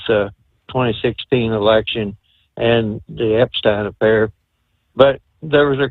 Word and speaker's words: Epstein: I keep hearing everybody saying Epstein, it's Epstein. And in German, if it's EI, that's pronounced as an I.